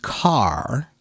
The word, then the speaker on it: car: So Shizuka, that's why you need to learn how to pronounce the word car. Car. The word car is such a very important word in American English because it has that American English R sound.